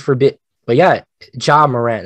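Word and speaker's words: Ja Morant: a bit but yeah john moran that's how you say it yeah john murray i was telling everybody jay moran but yeah uh jim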